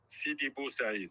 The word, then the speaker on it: Sidi Bou Said: Sidi Bou Said.